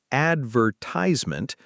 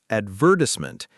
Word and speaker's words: advertisement: We also covered word stress and vocabulary, like advertisement versus advertisement and apartment versus flat.